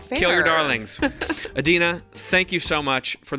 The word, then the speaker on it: Adeena: My name rhymes with Tahina, so it's kind of my Adeena Tahina.